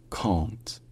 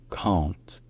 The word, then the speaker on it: can't: C'est-à-dire c'est un A, mais qui est nasalisé dans cette position-là. Donc ça devient très proche du en français, sauf que le N est quand même prononcé ensuite. Donc en anglais d'Angleterre, c'est can't, can't.